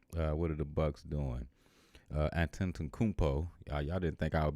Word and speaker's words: Antetokounmpo: Antetokounmpo. Y'all didn't think I would be able to say that like that, did you? But I know my sports. I can pronounce my names. Antetokounmpo. That's how you do it.